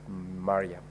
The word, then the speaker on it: Mariam: to the distinguished Senator Omar shik Mariam as Miram I very sure that is because of where you come from otherwise the name is pronounced as Mariam thank you very much